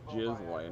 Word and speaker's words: Ghislaine: Ghislaine or Ghislaine? It's Ghislaine, according to like the 4 people I listened to, because I know one of them looked it up on the pronunciation.